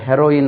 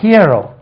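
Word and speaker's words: hero: எச் இ ஆர் ஓ ஹியரோ அது ஹீரோ இல்ல ஹியரோ ஹியரோ ஹூ இஸ் தி ஹீரோ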